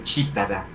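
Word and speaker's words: cithara: Fíjense aquí ese chitara, ¿sí? Está con TH, pero se pronuncia como si la H no existiera.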